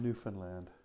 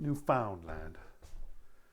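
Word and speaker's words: Newfoundland: oops going to land the sea plane on New Finland and yes that's how you pronounce it it's not new found land they'll punch you out if you go there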